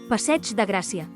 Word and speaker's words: Passeig de Gràcia: of Catalan is that the word ending with ig is pronounced like ch, so this name for one of the most important avenues in Barcelona is pronounced passeig de Gràcia.